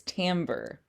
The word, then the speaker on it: timbre: And timbre is spelled this way. It's kind of a French spelling.